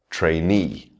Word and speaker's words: trainee: Words ending in E, trainee.